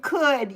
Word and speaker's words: could: I know Jay, you're like should and could. Yeah. Yeah. Because it looks like should, but it's not. It's should. The L is silent.